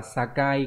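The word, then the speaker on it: 境: Nó đọc là sakai, có nghĩa là biên giới, ranh giới.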